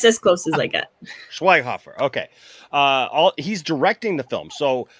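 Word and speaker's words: Schweighöfer: breakdown uh because um now how do you pronounce his last name i just call him matthias what is it schweinkoffer schweinhofer okay probably not like it would be like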